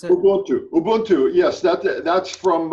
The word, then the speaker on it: Ubuntu: the concept of Ubuntu or how do you pronounce it well do Ubuntu yes that's it that's from a Cantera tidge